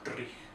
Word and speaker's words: dreich: You say dreich. So it's D-R-I-E-C-H, but in the old Scottish language you roll with the R, so it's dreich.